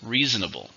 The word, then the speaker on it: reasonable: How many syllables? Reasonable. 4 syllables, stresses on the first.